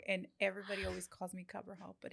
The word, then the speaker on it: Cabral: Say it the pretty way. One more time. Cabral. No. Say it with your accent. Cabral. Yes. Pretty.